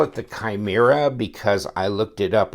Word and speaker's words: Chimera: I call it the Chimera because I looked it up on Wikipedia or Greek mythology thing and they said that it's even though it starts with the C it's pronounced more of a K but one person tried